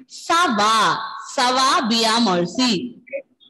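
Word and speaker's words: ça va: Adish, pronunciation is not Kava. Pronunciation is Sava.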